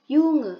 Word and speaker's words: Junge: Lalu ada Junge atau dalam bahasa Jerman itu dibacanya Junge yang artinya anak laki-laki.